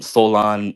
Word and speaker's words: Soulaan: Solon means it's spelled Soulaan.